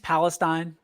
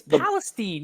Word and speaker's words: Palestine: Would you stop saying East Palestine? It's Palestine. You know better. East Palestine. So do we have to have another train derailment for you to say it right?